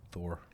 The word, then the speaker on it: Thor: yeah that'd be nice Thor Thor there's no a in it Thor Thor Thor am I saying it weird yeah am put it's th h o r not t like I know how it's